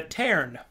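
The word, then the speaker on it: Tearn: the next uh the next race are the taren let me spell it out for you so the taren the taren spelt t-e-a-r-n are a race of bat people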